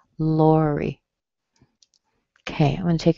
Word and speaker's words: Lori: Lori is a 2-syllable word. Whether it's spelled Lori or something different, it's just the same as Sherry. Okay, so it's Lori. Strong in the beginning, weak at the end.